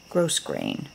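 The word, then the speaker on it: grosgrain: that one on there some grow grain ribbon gross grain that's how you say it beautiful ivory color some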